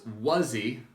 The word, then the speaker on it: Wuzzy: So you pronounce Wuzzy with two Z's, the same as you pronounce the question, was he?